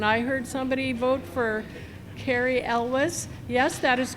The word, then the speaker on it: Elwes: And I heard somebody vote for Cary Elwes. Yes, that is correct, of Princess Bride fame. I actually had to ask somebody how to pronounce that because I didn't want to say Elvis, Cary Elwes.